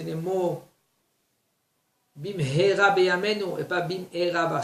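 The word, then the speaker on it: במהרה: bien prononcer les mots, bim hera beyamenu, et pas bim hera shemishmor. Avec un Aleph, c'est malédiction. Avec un He, c'est vite.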